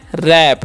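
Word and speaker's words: wrap: डब्लू आर ए पी तो यहां पर डब्लू जो है साइलेंट होता है इसीलिए हम क्या पढ़ते हैं रैप आर का न र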